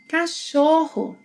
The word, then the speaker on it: Cachorro: Cachorro. Cachorro. The CH sequence must be pronounced as one sound.